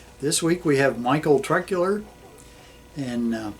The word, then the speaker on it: Troeckler: week we have Michael truck Euler and the O is silent in that name so I wonder what